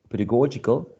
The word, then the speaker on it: pedagogical: But when you say pedagogical, the adjective, pedagogical, you switch the stress to a different syllable.